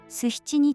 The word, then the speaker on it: 須比智邇: 古事記では地と地を使い分けているため、須七二の神は須七二と読むのが一般的です。